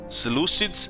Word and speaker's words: Seleucids: In the east was Parthians, and I guess Egypt, Seleucids. So somebody told me back in the day how you pronounce this faction, Seleucids. In the game, they tell it both, Seleucids and Seleucids, Seleucid.